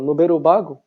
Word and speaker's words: nūberu bāgu: o cinema novo francês a número bago né que a pronúncia de novo ele ficou japonesa e apesar de acontecer